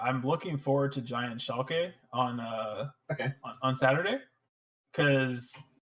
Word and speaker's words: Schalke: Yeah, so like Schalke, however the fuck you pronounce it. Schalke.